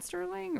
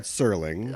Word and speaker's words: Serling: the novel by Brad Sterling or is he just no he's the first of all tried Serling oh I said his name wrong get my picture picture